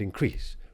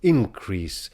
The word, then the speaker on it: increase: And notice, incidentally, that increase really wants to stress on the second syllable in order for the line to scan properly. Herein lives wisdom, beauty, and increase. We today would be inclined to stress it on the first syllable, increase, when we mean the noun, and to increase when we mean the verb.